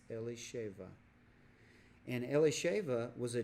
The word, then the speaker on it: Elisheva: Elsa Fong and XIII and Aaron took him Elisheva is how you say that Elisheva which in England English would be Elizabeth okay Elizabeth is actually a Hebrew name and it's pronounced Elisheva and le shaiva was a Judah I'd ironically